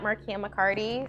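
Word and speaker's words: Markeia McCarty: Twitter and Instagram at Markia McCarty. So there's a silent E in there.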